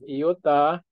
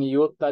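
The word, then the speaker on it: iota: a Dios or theos Okay then we have iuta Ah pwede ung yuta din pwede na ung yuta na pronunciation Pero pwede ring yuta no pag Tagalog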